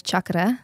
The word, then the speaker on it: chakra: do you know about chakras and that kind of world of like you know connecting with our inner self so first I'm going to tell you it's chakra okay because any person's going